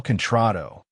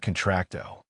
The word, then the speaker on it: contrato: Daddy, she's saying it wrong again. You told me it's El contrato, not contracto.